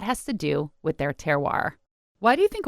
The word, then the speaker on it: terroir: you should know called terar which of course is a French word and probably really pronounced ter but us dumb Americans say terroir and this refers to